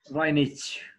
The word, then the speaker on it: Vlainić: Is that correct pronunciation? Vlainić.